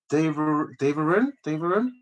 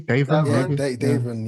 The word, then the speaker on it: Davrin: his name right, Jamie Daverin. You got the first bit right. Davrin, maybe? Davrin, yeah.